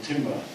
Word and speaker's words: timbre: Transients are also very, very important for timbre, or timbre, depending on how you like to pronounce it.